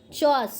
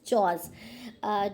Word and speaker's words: chores: Doing house hold chores, sorry, okay, the correct pronunciation of this word is chores.